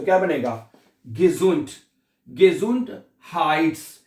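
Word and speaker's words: gesund: अच्छा अगला लफज़ है देख ये है गेजुंड। गजुंड। गजुंड। एस को हम जेड की आवाज में प्रोनाउंस गिसुंड नहीं कहना। एस को हम जेड की आवाज में प्रोनाउंस करते हैं। गिजुंड गिसुंड नहीं कहना हैं।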